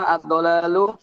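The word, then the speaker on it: الضلال: আল জাফাফু শুকনো হওয়া, আদ-দালালু পথভ্রষ্ট হওয়া, বিপদগামী আদ-দালালু হওয়া। পথভ্রষ্ট হওয়া। আদ-দালালু আর দালালু করেন না আবার, আদ-দালালু। আজ-জালালু। আকারের উচ্চারণটা বাদ দেবো, আদ-দালালু।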